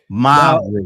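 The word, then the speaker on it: Māori: Well, and it's pronounced with two syllables. Maori.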